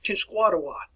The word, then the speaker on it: Tenskwatawa: And you hear this pronounced several different ways. But listen to it, look at the word as they pronounce it, Tenskwatawa.